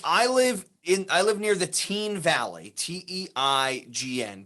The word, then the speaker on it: Teign: Like so it's I live near the Teen Valley, Teign, Teen Valley, by Teen Village. I would have pronounced that Tyne.